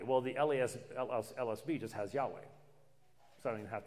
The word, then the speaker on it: Yahweh: That's not a possible pronunciation. Jehovah has three syllables. Yahweh only has two syllables.